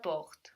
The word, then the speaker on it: porte: r.e.m T E so the final e means the consonant isn't on the end of the word anymore and so we know that we should pronounce it pause so we said